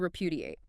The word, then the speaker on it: repudiate: And the final verb in this set, to repudiate. R-E-P-U-D-I-A-T-E, stress. Repudiate, stress on the second syllable. Pu, 4 syllables.